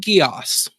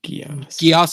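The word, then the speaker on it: Geass: Uh, Code Guos. Yeah. What? Oh, I've C code. Uh, Gios is spelled G E A S.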